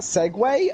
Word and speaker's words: segue: I heard it I whenever I saw the word Segway ring down I thought it was like pronounced sieg or something seagully I'll see you or something like that feed you I feed you it's s-e-g-u-e like that's we're pronouncing that Segway okay fine go for